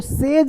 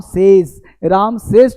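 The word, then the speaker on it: says: SA22 है ना, इसको से मतलब कहना, इसको सेज बोलते हैं, सेज नहीं बोलते। तो राम सेज टू मी, यानी आपको सेज बोलना है, इसका साउंड जो है वो जा होता है, राम सेज टू मी।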